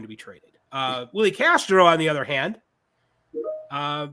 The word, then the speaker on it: Castro: Castro rhymes with Astros.